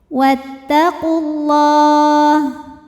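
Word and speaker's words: وَاتَّقُوا اللَّهَ: Lam pada lafaz Allah atau lam jalalah dibunyikan secara tafkhim. Karena huruf sebelumnya berbaris dammah, maka dibacanya tebal. Wattaqulah.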